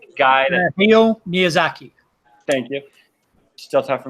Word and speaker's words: Miyazaki: I don't know how to pronounce his name. Guy. Hayao Miyazaki.